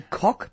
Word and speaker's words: Koch: The Koch brothers being the classic example of ways in which... Did you say the Koch brothers? I did, because that's the way it's pronounced in the United States.